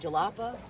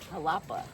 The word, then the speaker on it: Jalapa: Like, how do you say we said jalapa and it's Halupa? Halapa. Halapa spelled with a J.